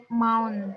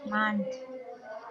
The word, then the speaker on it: month: You say mount, but the right is month.